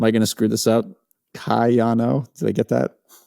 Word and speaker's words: Kayano: Kayano, did I get that? Kayano.